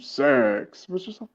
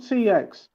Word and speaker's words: CX: pronounce that job six it's always like welcome to sex it's called CX don't call it sex attract me all hip